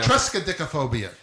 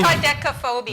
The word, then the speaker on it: triskaidekaphobia: Try to pronounce it. Okay, Frigga. Okay. Friggatriskaidekaphobia. Okay. Trexkaidekaphobia. That's Okay, I will. Triskaidekaphobia.